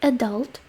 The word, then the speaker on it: adult: Adult або adult, тут також подвійний наголос, та це дорослий.